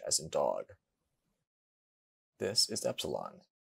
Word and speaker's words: epsilon: This is epsilon. It is always a short vowel and is pronounced like the E in bet.